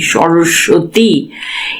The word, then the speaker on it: সরস্বতী: এই বানানটা হচ্ছে দন্তস বয়শন্যর দন্তস বয় ত দীর্ঘ এটা মনে রাখবে ত দীর্ঘ সরস্বতী এইযে সরসতি এই যে দন্ত সয় বয় দেখ সরস্বতী একটু আমি উচ্চারণটা জোরে করছি এই জায়গাটা এখানটা হচ্ছে সয়